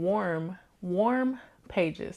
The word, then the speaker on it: Warm Pages: I say Warm Pages, it sounds like I'm saying Warren, WARN, and people are like, huh? But I am saying warm pages.